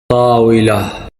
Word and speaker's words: طاولة: طاولة. Let's hear it again. طاولة.